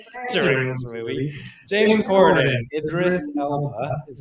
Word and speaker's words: Idris Elba: a lifetime during this movie, James Cordon, Idris Ela is how it's pronounced. Yeah, Idris Elba.